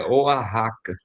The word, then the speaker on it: Oaxaca: A pronúncia, esse é Oaxaca. É porque eu fiquei na dúvida, né? Porque eu digo... no espanhol, o X tem um som parecido com o R nosso. Só Isso, parecido. obrigada. Oaxaca.